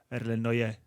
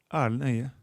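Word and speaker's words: Erlend Øye: But the R is so soft that it's really impossible for someone else to say it. So I prefer when someone just says Erlend Oye.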